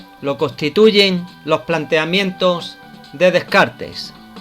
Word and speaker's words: Descartes: Un ejemplo de la filosofía y del razonamiento lógico lo constituyen los planteamientos de Descartes, también pronunciado como Descartes, filósofo francés del siglo XVII.